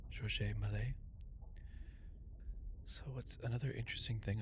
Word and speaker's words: Georges Méliès: Yeah, so another neat thing is that the director, well, let's say his name, well, it's French, so it's Georges Méliès. Georges Méliès.